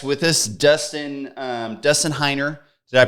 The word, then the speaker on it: Heiner: have a guest with us Dustin um Dustin heiner did I pronounce that correctly you sure did Dustin heiner and he has been investing in real estate